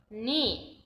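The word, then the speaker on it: knee: ران من قوی هست نی زانو بچه‌ها دقت کنید که اینجا کی تلفظ نمیشه نی زانو بچه‌ها تا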